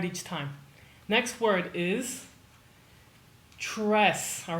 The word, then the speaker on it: tres: Tres. Pretend that you're not saying tres. Pretend that you're saying this word instead. Today's. It's not literally the same sound, but it's almost identical.